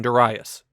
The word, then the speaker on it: Darius: There's hardly any bigger than Das. And yes, that is how it's pronounced.